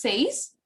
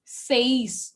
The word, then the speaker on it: seis: Six is seis. Six is seis. Okay. Seis. The focus is on E, not on I.